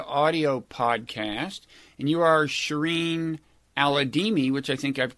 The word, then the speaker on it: Shireen Al-Adeimi: And you are Shireen Al-Adeimi, which I think I've correctly pronounced.